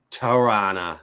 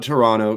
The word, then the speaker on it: Toronto: has announced All Out Toronto. Yeah, you don't pronounce the last T there. There's a little insiders tip for you. All Out Toronto coming soon.